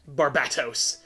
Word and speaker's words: Barbatos: I like to emphasize the bat. Barbatos.